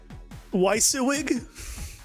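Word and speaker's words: WYSIWYG: What you see is what you get. Weissewig. That's how I'll pronounce that.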